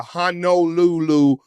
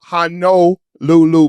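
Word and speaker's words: Honolulu: Detroit Lions in the hanol Lulu blue the fans said we are calling it wrong we're we're we're pronouncing get wrong mitell not Hana not Hana Hano Lulu blue I told you fans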